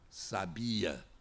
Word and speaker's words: sabia: Se eu tenho, por exemplo, sábia, sabia e sabiá, são as posições do acento tônico que vão demonstrar e caracterizar três palavras diferentes: sábia, sabia e sabiá.